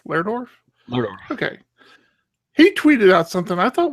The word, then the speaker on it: Lerdorf: How do you pronounce Rasmus's last name? Lerdorf. Lerdorf.